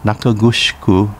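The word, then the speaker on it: 中城: Kitanakugusku, pronounced Kitanakugushiku in Uchinaguchi, and Nakagusuku Village, pronounced Nakagusuku in Uchinaguchi.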